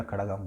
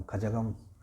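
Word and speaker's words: கழகம்: तमिल मुन्नत्र खड़गम खजगम खड़गम बोलते हैं उसको। खगम वो लोग खगम करके उच्चारण करते हैं मित्र मुत्र खग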